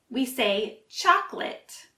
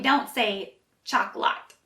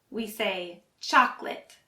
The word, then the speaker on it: chocolate: we don't say chocolate we say chocolate and you'll notice for the last syllable it sounds more like lit and not a lot so we don't say chocolate we say chocolate let's review it together